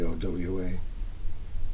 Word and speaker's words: Aage: first name a AG nobody knows how to pronounce it it's just phonetically OWA and Danish people probably